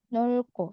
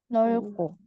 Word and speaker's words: 넓고: 넓고. Yang dibaca realnya ya. 넓고.